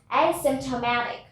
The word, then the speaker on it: asymptomatic: Our next word is asymptomatic. Asymptomatic. Asymptomatic. We don't say asymptomatic. We pronounce the A as we say A, B, C, D.